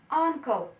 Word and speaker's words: uncle: Uncle читается, смотрите. Помните, я вам говорила, что и на конце, если слой больше, чем один слог, она не читается. Uncle. Uncle. Буковка U, ну, бывает вот так, что она читается как А в закрытом типе слога.